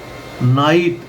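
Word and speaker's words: knight: इन side माना सूक्ष्म दृष्टि या पैठ या गहरी सोच नाइट के एन आई जी एच टी अब यहां पर के साइलेंट है एन से पहले हमेशा के साइलेंट होता है नाइट मेरा योद्धा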